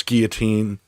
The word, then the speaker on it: guillotine: all to know that I pronounce gillet or Guillotine Guillotine on purpose I do that on purpose I know it's Guillotine um it's it's it's from the French uh it's basically named after